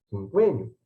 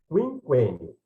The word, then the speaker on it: quinquênio: A maior parte deles diz quinquênio, né? Está errado. Por quê? Como é que se pronuncia? Quinquênio, né? Mas como é que eu sei que é quinquênio?